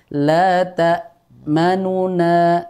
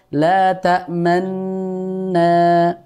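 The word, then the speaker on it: لا تأمنا: dibaca dengan Idgham sehingga kita membacanya bukan la ta manuna namun dibaca dengan Idgham la tamna begitu meskipun di situ ada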